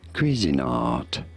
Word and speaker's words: Cuisinart: Cuisinart, as in cuisine, and art, of course.